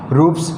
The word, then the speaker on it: roofs: अब ये देखो ये एफ है, एफ के बाद में ये एस है, तो इस एस का उच्चारण यहाँ पे क्या हो गया, से हो गया, यानी रूप से यानी छत।